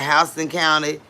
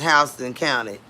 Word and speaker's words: Houston: We pronounce it Hston County, but it's spelled just like Houston, Texas, but it's pronounced Hston County.